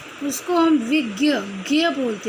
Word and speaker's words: विज्ञ: विज्ञ, वैसे तो ये जय होता है, जय और ञ के योग से बना होता है, तो इसका एग्जैक्ट जो प्रोनाउंसिएशन होता है वो विज्ञ होगा।